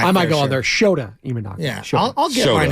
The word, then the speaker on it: Shota Imanaga: Well, the Japanese pitcher that you were afraid to because you don't want to be on a mispronunciation. Was it Shinto Imanaga?